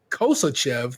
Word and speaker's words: Kosachev: in ukraine komar assant reported k-o-m-m-e-r-s-a how to pronounce that sorry i don't know i'm not european uh constantine kosher koshev kosachev there we go kosichev the deputy speaker of